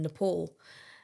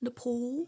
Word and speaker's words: Nepal: was I went, "Um it's actually pronounced Nepal." Oh, no. And he went like not even a second of thought. He just went, "No. It's called Nepal and you live there cuz you've got knee pals."